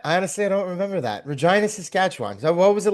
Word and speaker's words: Regina: That's something that sticks with you because when she was like it's vagina. It rhymes with something else and then How do you remember that? I honestly don't remember that. Regina, Saskatchewan.